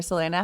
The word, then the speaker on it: Selena: for having me and you absolutely nailed the pronunciation of my name I love that I love that you are from Italy and so the actual pronunciation of your name is a little bit more Italian correct yes right so my